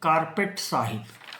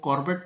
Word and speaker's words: Corbett: ऐसा इसलिए लिखा क्योंकि उनका नाम तो जिम कॉर्पेट था लेकिन जो लोकल विलेजर्स थे वो कॉर्बेट प्रोनाउंस ना करके उनको अपनी लोकल लैंग्वेज में उनको कार्पेट साहब कार्पेट साहब कहकर बुलाया करते थे तो इन्हीं दोनों